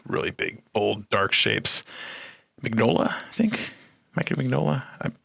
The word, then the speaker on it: Mignola: seen it a million times but i've never pronounced it i just always read it but i think it's mignola that's how you say it but yeah he's